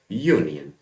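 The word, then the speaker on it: union: देखो एक बात ध्यान दो, इसका उच्चारण करते हैं कि यूनियन, शुरुआती जो वर्ड है उसका मतलब क्या है, यूनियन। यर लेवल से आ रहा है जो व्यंजन है, तो इसमें एन तो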